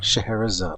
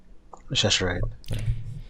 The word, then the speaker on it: Scheherazade: Scheherazade. Oh. Scheherazade. I was close. The magic of Scheherazade. Yeah. I used to think it was Cheshire. Cheshire. Scheherazade.